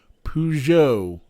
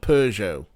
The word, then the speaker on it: Peugeot: Peugeot, not Peugeot.